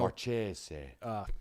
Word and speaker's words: Marchese: now the speed guys are like, oh, this guy's fast, like Marchese down at where's it, Cartersville? Marchese. Yeah, that's how you say it. Like, Brady Marchese.